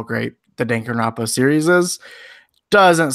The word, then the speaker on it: Danganronpa: I had played a game called Danganronpa, I believe it's pronounced. I believe there's three pronunciations of that game, Good. and they're all correct. So yep, you're good. Oh, you want to try Danganronpa, Yep, which there's would another be one.